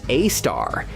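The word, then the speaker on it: Sagittarius A*: Its name is Sagittarius A, pronounced A star, and it's four million times as heavy as the sun.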